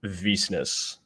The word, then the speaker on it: Wisnios: to be here my my last name is pronounced visnus it's completely yes yeah